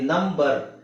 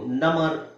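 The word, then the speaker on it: number: ಈತರ ಬಂತು ಅಂತ ಇಟ್ಕೊಳ್ಳಿ ನಂಬರ್ ನಂಬರ್ ಅಲ್ಲಿ ಬಿ ನ ಹೇಳಬೇಕು ನಮರ್ ನಮರ್ ಅಂತ ಹೇಳಲ್ಲ ನಂಬರ್ ನಂಬರ್ ಓಕೆ ಬಟ್ ಇದೊಂದು ಪದದಲ್ಲಿ ನಿಮಗೆ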